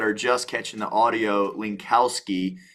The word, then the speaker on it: Linkowski: And for those of you that are just catching the audio, Linkowski, and just how I'm saying it, it's phonetically spelled.